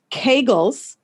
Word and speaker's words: Kegels: how to pronounce it kegels it rhymes with bagels she was told to do kegels so she over overtoned